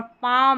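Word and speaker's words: palm: जैसे कि कॉम में बी साइलेंट है और पाम में एल साइलेंट है।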